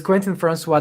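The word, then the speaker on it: Quentin François: You pronounce it perfectly. Perfectly. So it's Quentin Francois.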